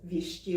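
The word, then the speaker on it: Вещий: And by the way, there are two sh sounds in Russian, and I cannot pronounce them distinctly. So I'm using the one that is often transliterated like sh. So Vichy Oleg.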